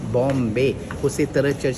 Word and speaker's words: Bom: पुर्तगाली भाषा में इसे बॉम कहते हैं। आपको बताने की ज़रूरत नहीं है, 24 साल पहले मुंबई का क्या नाम था, बॉम्बे, उसी तरह चर्च का नाम जुड़ा हुआ है।